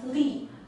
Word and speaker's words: 力: this cartridge pronounced as Li Li and then can mean physical strength leach